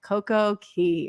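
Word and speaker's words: CocoCay: of perfect day at CoCo Key or coco K I always like to say Coco K it rhymes with day but and you guys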